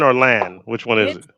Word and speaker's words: Lan: so your last name lawn or land which one is it well it looks like land but it's pronounced lawn like Mulan okay fine that helps